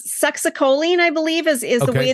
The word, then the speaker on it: succinylcholine: It's succinylcholine, I believe, is the way the people I worked with called it.